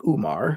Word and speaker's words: Umar: The first letter in Umar is actually a combination of an English O followed immediately by an Ein, which is a deep-throated ah sound that native English speakers, like me, can never pronounce well.